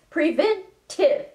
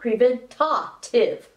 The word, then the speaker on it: preventive: with the word preventive many people incorrectly insert a top between the prevent and the ti it's preventive not preventative in any case mammograms